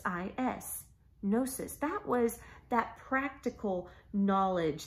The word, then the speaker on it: gnosis: was no --ss G in O s is gnosis that was that practical knowledge that's kind of